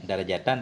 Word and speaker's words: darajatan: Jadi sab'in wa isyrina angka itu angka 11 sampai 99 dia tugasnya menasabkan isim nakirah sebagai tamyiz, darajatan tamyiznya. Bacanya darajatan.